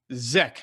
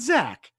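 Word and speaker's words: Zech: pick is the cornerback zek not zack zack mcpherson with an ea in there yeah from texas tech well z-e-c-h yeah z-e-c-h is exactly exact yeah we pronounce it i guess i'm reading it i guess that's how you pronounce it i don't know yeah i was told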